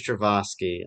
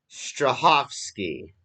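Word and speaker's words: Strahovski: yvonne travoski wait strasinski i thought it was trevoski i don't know let me see if i i haven't been saying it right haven't i no yeah no it's strawski strawski yvonne jacqueline strip um hold on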